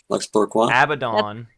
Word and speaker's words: Abaddon: said i did research there is not a correct answer to this question both are correct abaddon is the historical hebrew pronunciation and so some would say that is more correct but you know how sometimes words are pronounced in different languages that happens we see